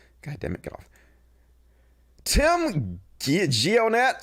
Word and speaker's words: Tim Gionet: Tim Gionet, that's how you pronounce his name, who calls himself Baked Alaska,